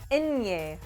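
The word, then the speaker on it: ñ: a pretty simple letter it is pronounced like a combination of an in and a yay for a inye sound let's practice repeat after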